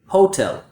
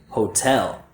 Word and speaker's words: hotel: So instead of a second syllable stress, a lot of students will stress the first syllable like this, hotel. But a native speaker will say hotel.